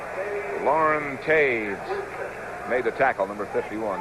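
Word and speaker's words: Toews: Lauren Taves made the tackle, number 51. That's spelled T-O-E-W-S. Spelled that way.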